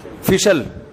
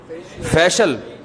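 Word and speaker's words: facial: फिशल फिशल फिशल फैशल अबे सही pronunciation बुलवाया करो। फिशल ना फैशियल ये अमेरिका से आए हैं। ये सही बताएंगे। जी? फेशियल फेशियल फेशियल यह अमेरिका से आए हैं।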